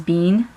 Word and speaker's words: Bin: name is Sabine um but her nickname is Bean it's b i n but it's pronounced b e a an which is cute